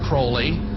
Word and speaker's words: Crowley: about was Alistair Crawley he likes to have his name pronounced Crowley to rhyme with holy and uh the Satanist